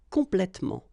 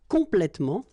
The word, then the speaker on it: complètement: Okay, in most of the cases, you don't pronounce this here.